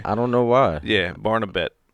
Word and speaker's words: Barnabet: don't know why yeah barnabet barna it's barn uh bat yeah but it's spelled